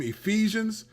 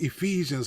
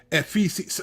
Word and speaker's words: Ephesians: is the Bible and she pronounced Ephesians like epes it was some it